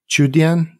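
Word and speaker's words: Qudian: term, not just on DoYou, but also on Chudian. Is that how you pronounce it? Yes. Chudian is in the financial services industry in China.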